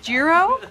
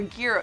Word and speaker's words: gyro: Giro or gyro? Gyro. Gyro. As in like gyro. Because it's on the meat spit and it's spinning.